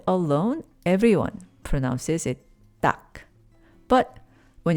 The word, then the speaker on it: 딱: But, when it's followed by a nasal sound like mat in maja, people often pronounce it as tang followed by maja. So, instead of tak maja, you might hear tang maja, tang maja.